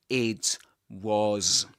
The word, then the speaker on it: it was: This, the T, the T sound at the end of it gets assimilated to the following sound and we get P, but we don't release the air there.